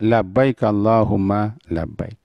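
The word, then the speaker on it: لبيك اللهم لبيك: untuk melaksanakan umrah Hai atau haji Hai nah bacanya Labbaik Allahumma Labbaik ada Hai Labbaik Allahumma Labbaik inilah yang diterjemahkan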